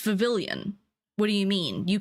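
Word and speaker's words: Vivillon: Um, and Vavilion was Vivian as in like the L's were silent, which like I kind of get the region's based off France, but like it's Vavilian.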